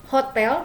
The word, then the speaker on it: hôtel: Kalau dia huruf vokal seperti hotel dalam bahasa Prancis itu, hotel itu adalah H-nya itu tidak diucapkan, jadi dianggap dia huruf vokal atau dia tidak ada.